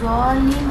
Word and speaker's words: ضالین: دال جیسا ہے، دال نہیں ہے.